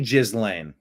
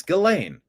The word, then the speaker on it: Ghislaine: It can't be Jizz Lane. It can't be pronounced Jizz Lane. That is the simulation winking at us. If the lane to Jizz goes through her, that cannot. It's Ghislaine.